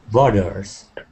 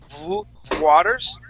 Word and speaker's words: Waters: all right let's uh let's practice that W right there W Waters Waters okay so how we pronounce how we pronounce that right now what you're doing is that you're using a v sound saying V Waters Earth okay all right